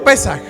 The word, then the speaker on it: Pesaj: ahí va la cosa la Pascua en hebreo es pesaj o pesaj no sé comoo lo quieran Cómo se pronuncie yo digo pesaj y pesaj significa saltar